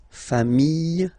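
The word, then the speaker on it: familles: put this s okay final s not pronounced fam singular form fam plural form same pronunciation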